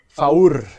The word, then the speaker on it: Faour: Faour, thanks for joining. Did I say right? Did I pronounce right your last name? Yeah, you pronounce it quite well actually. Faour, yeah.